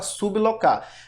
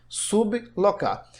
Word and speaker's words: sublocar: E também a palavra sublocar. Veja que a gente pronuncia sublocar. Sublocar. São duas pronúncias distintas.